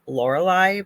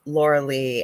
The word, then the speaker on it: Lorilei: spelled so strangely that people pronounce it probably the way it's spelled laurelai but I'm not laurelai it's Laura Le and the reason why